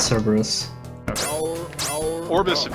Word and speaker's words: Cerberus: Or Cerberus, the thing I never know how to pronounce actually. It's Cerberus.